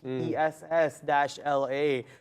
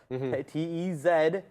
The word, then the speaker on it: Tesla: the company's named after, it says Tesla, TESS-LA. But if you go to Tesla Inc., it shows you Tesla, which is the actual name, or it also says Tesla, T-E-Z-LA, English pronunciation, respelling.